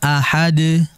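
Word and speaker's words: أحد: ya datain Akan tetapi kalau kita membacanya dalam kondisi waqaf atau berhenti maka huruf tersebut harus dibaca mati pula ahad ahad Nah jadi pemirsa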